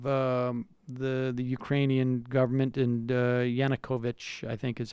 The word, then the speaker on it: Yanukovych: on behalf of the the Ukrainian government and Yanukovych I think is how we pronounce his name gates teamed up or basically